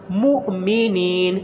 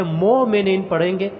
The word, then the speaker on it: مؤمنین: لفظ لمبا نہیں کرنا۔ مؤمنین یہ لفظ مشق کے قابل ہے، بہت سے افراد اس کو مجہول پڑھتے ہیں، مومنین پڑھتے ہیں، اس طرح نہیں پڑھنا، یہ لہجہ اور تلفظ ادائیگی یہ غلط ہے، بلکہ صحیح تلفظ عربی لہجہ کیا ہے، میم کے اور جھٹکے کے ساتھ پڑھنا ہے۔ مؤمنین نون کو لمبا